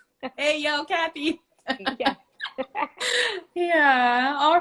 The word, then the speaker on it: Ayocathy: Especially for, like Lonnie said today, that's exactly how it's pronounced. Hey, yo, Kathy.